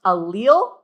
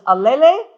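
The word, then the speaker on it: allele: So that is pronounced alil. Um I did have one class one time who insisted that it was alle which I did find kind of fun.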